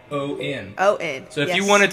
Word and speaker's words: Jordon: Okay, so Mrs. Jordon Bailey, and it's Jordan, Jordon.